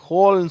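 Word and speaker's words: whole: இது ஹோல்னு சொல்லணும். சரியா? இதை ஓல்னு சொல்லக்கூடாது. ஹோல்.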